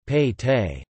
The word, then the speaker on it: pete: Within the fort, the town was divided into smaller divisions, each called a Pete, Kannada pronunciation, Pei Te.